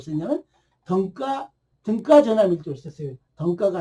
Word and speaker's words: 등가: 등가가 아니고 등가. 네, 발음이 그래요.